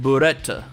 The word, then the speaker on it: Brett: Our point of view character initially isn't John, but a kid named Brett. In Japanese, it's apparently pronounced Buretta, like bullet, but I think English is sticking with Brett.